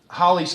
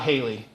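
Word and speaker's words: Halley: Um, you see here that Holly's Comet, and yes, it's not Haley.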